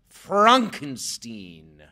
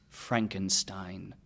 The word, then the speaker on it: Frankenstein: steam its Frankenstein Frankenstein Frankenstein my name is pronounced Frankenstein not Frankenstein